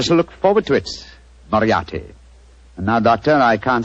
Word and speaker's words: Moriarty: